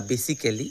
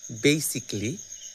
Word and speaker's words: basically: অনেকেই বলি বেসিক্যালি বা বেসিক্যালি এরকম কিছু। মূলত এই শব্দটির সঠিক প্রোনাউন্সিয়েশন হবে বেসিকলি, বেসিকলি, বেসিকলি।